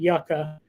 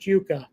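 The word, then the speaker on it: yuca: God awful which is why I call it yucka even though it's pronounced Yuka but it's a it's a root vegetable so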